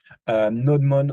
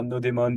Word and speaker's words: nodemon: NodeMon or NodeMon, depending how you say it, is one of the most used tools.